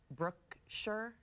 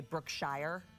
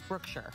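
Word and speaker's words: Brookshire: know what else said a lot of people mispronounce too is Brooke sure and they say brook shire horse move here Brooke sure pretty sure brook shire brook shire yeah but it's Brooke sure oh okay you want to play along yeah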